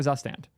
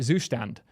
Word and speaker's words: Zustand: my YouTube videos explaining why we're here for zand sorry zand second to only time you'll ever hear me pronounce it even close to correct so what